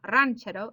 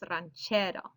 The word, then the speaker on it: ranchero: is getting that stress ranchero it's not ranchero it's not ranchero it's ranchero stress on that second to last syllable so if a word